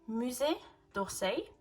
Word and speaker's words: Musée d'Orsay: Musée d'Orsay, if I'm not wrong, that's how it's pronounced.